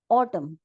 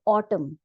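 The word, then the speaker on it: autumn: आता है ऑटम ऑटम अब यहां पे देखिए ऑटम यहां पे हम म बोल रहे ऑटम न नहीं बोल रहे हैं लास्ट का जो एन है वो साइलेंट है उसका हम नाउंस एशन नहीं कर रहे ऑटम क्या होता है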